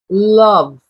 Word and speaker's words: love: Love L. Esse ezinho é mudo, certo? Ele é silencioso, tá? Love. A gente termina no na letra V.